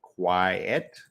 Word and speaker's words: quiet: spelling is very different quiet rhymes with uh diet and quite fight uh may function yes